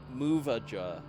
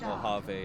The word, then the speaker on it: Mojave: As a kid, I pronounced that as planet Muvaja. Muvaje. Yeah, I had to learn what Mojave actually sounded like from my fiance.